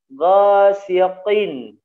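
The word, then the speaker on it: غَاسِقٍ: Nah, ghasikin k ya, jadinya ya, nggak boleh tebalin sedikit karena ko merupakan huruf tebal ya. Ghasiqin, tiq, langsung taruh di ya di pangkalnya ke daging. Ghasiqin gitu ya, tidak boleh ke depan.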